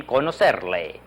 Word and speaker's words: conocerle: Mucho gusto en conocerle. Can you see it there? Mucho gusto en conocerle. Notice that middle C is pronounced like an S, isn't it?